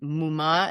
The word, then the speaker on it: muma: Muma is mom. So they'll say, some people will say mi muda or mi mara, and we say muma.